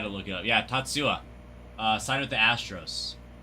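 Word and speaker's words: Tatsuya: Tatsua.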